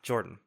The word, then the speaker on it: Jorphdan: junction my name is Jord with a silent pH in the middle and I'm joined by